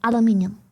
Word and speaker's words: aluminium: So if you want to be technical about it, if I'm right, it's aluminium. But either way, both are correct. Genuinely, officially, as last time I checked, the genuine official pronunciation goes both ways. Like it is factually, scientifically, professionally correct to use either as pronunciation.